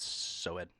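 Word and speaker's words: SOAD: I don't believe anyone's ever pronounced it Soed. It's S-O-A-D, man. That's what they chant.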